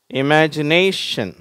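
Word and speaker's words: imagination: Next இமேஜினேஷன், சரியா? இமேஜினேஷன், இந்த மாதிரி ஷன்னு முடியுது அப்படின்னா அதுக்கு முன்னாடி உள்ள சிலபில் கொஞ்சம் அழுத்தமாக உச்சரிப்பாங்க, இமேஜினேஷன், ஓகேவா?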